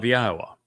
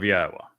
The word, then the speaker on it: Yahweh: Then the debar which is the word of Yahwa, not of Hashem, not of Jashi, not of Adoni, of Yahwa.